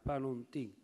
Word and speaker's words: Panontin: Nome tipicamente veneto, tronco, con accento sulla ultima vocale, Panontin.